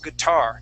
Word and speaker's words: guitar: The accent is at the end of the word. We say guitar.